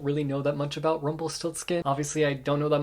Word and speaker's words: Rumpelstiltskin: Rumpelstiltskin. Rumpelstiltskin. It's a loose retelling of Rumpelstiltskin, but I didn't know that till after reading it, and I also don't really know that much about Rumpelstiltskin.